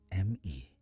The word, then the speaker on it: me: Consider the Sumerian word me pronounced as a single syllable like the English word may.